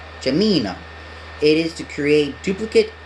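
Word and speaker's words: Geminio: Just pronounce it as Jamino. Jamino.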